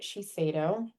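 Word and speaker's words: Shiseido: And that's how you pronounce it. Chico.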